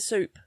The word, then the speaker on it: soup: There's no silent P at the beginning of soup. Then it sounds like psychic, doesn't it?